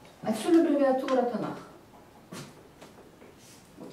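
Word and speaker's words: תנ״ך: Отсюда аббревиатура Танах. Вот я вот так, бо «к» у словой позиции у конце слова будет як «х».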